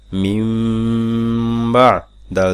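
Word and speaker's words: مِنْ بَعْدِ: মিম নুন জের মিন কিন্তু এখানে পড়তে হবে মিম মিম জের বানান করবেন নুন সাকিন কিন্তু উচ্চারণ হবে মিমের মিম নুন জের মিন বা আইন জবর বা মিম বা দাল জের দি মিম বাদি আরেকটি কথা আমি বারবার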